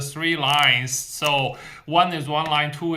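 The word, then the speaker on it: 四: the uh Chinese pronunciation s number four because it sounds like s which means death but s remember s going down s it's not appear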